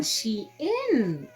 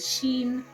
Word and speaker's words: SHEIN: 50 something Rand on she in is it Sheen or shein whichever way you prefer to pronounce it I prefer to say Sheen just sounds easier so these journals are